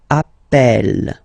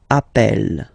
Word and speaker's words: appelle: You tend to pronounce it like really open. That's the reason why you pronounce it appel, appel.